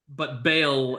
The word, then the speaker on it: Bel: It's spelled BEL, but Bale is as good of a pronunciation as any other.